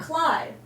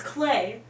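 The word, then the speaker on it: Klei: It's not Clyde. Their tagline is it rhymes with play, so it's Clay.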